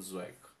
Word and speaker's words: Zweig: novelas e sólidas do stefan zweig pronúncia é assim bom rapidamente quem foi stefan zói foi um filósofo jornalista